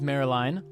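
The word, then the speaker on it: Maryline: So his mom's name is Marilyn, that is spelled M-A-R-I-L-I-N-E, Marilyn Ignotus.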